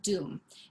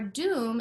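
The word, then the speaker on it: doum: the first um basic part which is called doom d-o-u-m is how it's spelled so what you're going to do playing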